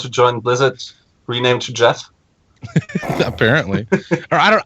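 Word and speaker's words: Geoff: join blizzard rename to Jeff apparently I don't I don't know if it's pronounced g off but I'm pretty sure it's Jeff okay yeah it's Jeff g e o FF yeah uh he is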